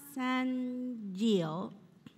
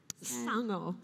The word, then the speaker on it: Sango: Okay, and our second speaker today is Moana Sangio. Did I pronounce it right? Sango. Sango. You were very Moana close.